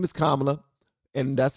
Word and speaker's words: Kamala: Camala. Camala. I think Trump was saying her name like that on purpose to piss people off. Camala. Her name is Kamla and that's how it's pronounced.